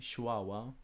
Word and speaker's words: shwawa: As you guys can see, it's written with a waw or with a w, but when it's written in Assyrian, it's written with a vet.